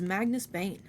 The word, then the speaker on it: Magnus Bane: I didn't finish it it's Magnus Bane he grinned at alling mockingly rhymes with over careful pain in the ass Alec muttered a retort